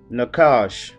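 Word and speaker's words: נָחָשׁ: serpent which is Hebrew 51 75 which is pronounced Nakash alright and it is from Hebrew 51 72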